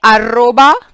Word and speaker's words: arroba: letters I base a arroba we just learned how do we pronounce at the rate we call it arroba arroba Gmail Punto Co